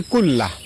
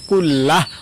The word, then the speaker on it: কুল্লাহ: আল্লাহুম্মাগফিরলি জামবি কুল্লাহ। আমি আবারও বলছি। আল্লাহুম্মাফিরলি জামবি কুল্লাহ। লাস্টে হা উচ্চারণ কুল্লাহ। অথবা কুল্লাহু। এভাবে পড়বেন।